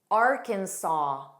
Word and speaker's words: Arkansas: Arkansas. So the last S is silent. Saw, saw.